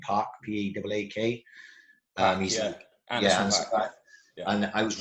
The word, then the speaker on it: Paak: And Anderson, I don't ever pronounce his second name, Park, P-A-A-K.